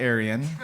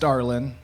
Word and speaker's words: Darling: started off by saying my last name is not Aryan very important to point that out because you know it's actually pronounced darling not like that matters